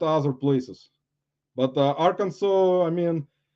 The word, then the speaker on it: Arkansas: Fireball flippers Amanda from Arkansas let's just uh pronounce Arkansas prior properly Arkansas I've been at Arkansas actually Little Rock at